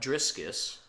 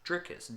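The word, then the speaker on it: Dricus: I just realized this I've been saying trick is his name wrong the entire time it's not driscus which I thought it was it's trickus d-r-i-c-u-s my mistake Mr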